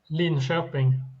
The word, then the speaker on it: Linköping: How we pronounce it in Sweden? Linköping.